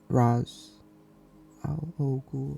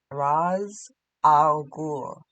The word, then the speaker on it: Ra's al Ghul: It's they're represented with the characters of Batman and Roz Al Ghul. I think that's how you pronounce it. It's Raz Al Ghul.